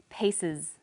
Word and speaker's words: pieces: The example was pieces. Pieces. The S on the end is pronounced z because it followed an S sound.